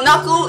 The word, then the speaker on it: knuckle: we have naku is silent now knuckle is any of the joints in the fingers especially those connecting the fingers to the rest part of the hands the knock is knuckle knuckle the joints in your